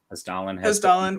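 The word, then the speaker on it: Hessdalen: Yeah, Hestelin. Say that wrong? No, you said it right. Hestelin, whatever.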